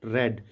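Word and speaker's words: read: तीनों फॉमसी होती है लेकिन रीड रेड रेड करके हम पढ़ते हैं उसको यू हैव नॉट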